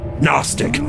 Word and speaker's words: Gnostic: cooked the word is Gnostic City College break remember now just like all good children and God above the g is silent it is spelled g-n-o-s-t-i-c